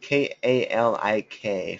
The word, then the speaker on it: Kalik: Oh, yeah, Kalik. K-A-L-I-K, for those asking, I think.